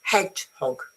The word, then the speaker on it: hedgehog: it comes to pronunciation Usually when you had a compound word the stress is on the first bit hedgehog.